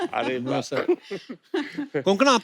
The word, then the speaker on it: कोंकणा: हमारे पर मुझे लगता है कोंकणा, आपको जब अलग अलग स्टेट के लोग मिलते हैं तो वो आपका नाम सही से प्रोनाउंस करते हैं.